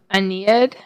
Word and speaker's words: Aeneid: that I'm also trying to finish up the Aeneid that's how you pronounce it I somehow lost or misplaced this